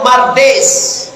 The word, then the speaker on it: Mardis: Mardi es tu bacanya Mardes.